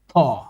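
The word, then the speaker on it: ㅌ: যেটা যেটা যেই বর্ণটা কোরিয়ান বর্ণ ইংরেজি ই এর মতো এটা হবে হচ্ছে থ ওকে এটা আপনি আপনার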